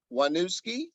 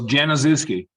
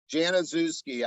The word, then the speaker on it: Januszewski: I got Wanuski. Did I pronounce it right? It's very close. Januszewski. Januszewski. I actually was not close, but you Yeah.